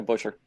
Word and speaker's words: Buescher: pronounce his name ever is it Buescher yeah butcher chris beuscher for cash um I